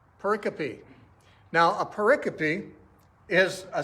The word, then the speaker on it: pericope: it's spelled p-e-r-i c-o-p-e you would think it's pronounced pericle but actually the correct pronunciation is pericopy pericopy now a pericappy is